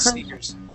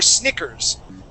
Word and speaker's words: sneakers: would be sneakers okay with a e a k okay um the other one would be snikers an Anastasia we wouldn't pronounce that sneakers yeah or Snickers okay you may be thinking of Snickers the candy bar okay maybe maybe and I think that may be a uh a CK yes uh that has a